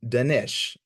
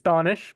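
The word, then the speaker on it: Danish: to live questions um denish in apologies if I mispronounced your name yeah no worries it's donish but um thank you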